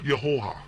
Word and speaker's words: Jehovah: call me by name, which Jehovah is a very bad pronunciation. I cannot even begin to pronounce it in Hebrew. The J would come off very similar to a Y sound or a heavy H sound. The V sound would not be a V, so it would be pronounced very different, almost like Yehovah. It's very similar to that, very different than how we pronounce it.